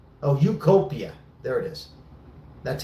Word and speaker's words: Utopia: That's how you Ukopia. Oh, Utopia. There it is. That's how you pronounce.